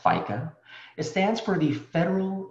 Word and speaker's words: FICA: Now, for those of you who are still working, you may recall seeing the acronyms FICA, pronounced FICA.